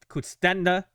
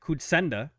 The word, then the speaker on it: Kutsenda: Kutstenda... God, I know how to say his name. Hold on. Please don't yell at me. Eric Kutsenda, my bad, advises, and John Seidler oversees from afar.